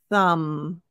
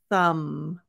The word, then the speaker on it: thumb: you don't need to so this one the B is silent and the th if